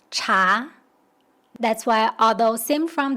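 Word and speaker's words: 茶: In Cantonese, tea is pronounced something like cha. It's actually close to Mandarin pronunciation, cha.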